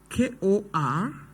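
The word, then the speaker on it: Korpershoek: And Kopeshuk is Korpeshuk. P-E-R-S-H-O-E-K.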